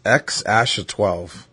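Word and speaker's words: X Æ A-12: so it's pronounced Peck it's pronounced x12 I'm sorry it's pronounced X Asha 12x Asha 12 I honestly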